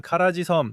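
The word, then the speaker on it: Kharg: 또한 카라지섬 또는 카라그라고도 하는데 발음에 따라 다르지만 그곳이 이란의 주요 석유 수출 섬입니다.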